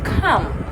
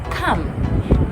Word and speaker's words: come: give this example in english you're supposed to pronounce this word as come come yet there is no ah in the word